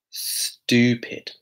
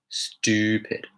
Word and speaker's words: stupid: Kind of like a CH sound.